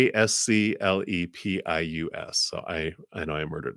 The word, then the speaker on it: Asclepius: And I might mispronounce some. In ancient Athens, it was a practice of the priests of Asclepius. It's Asclepius.